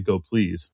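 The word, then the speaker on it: gopls: from the talk is the correct pronunciation of go PLS is apparently go please no way I had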